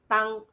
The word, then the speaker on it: 当: This Chinese character is pronounced as 当. Why? Because you are pointing to a moment and saying at that time, on that day, or back in that period.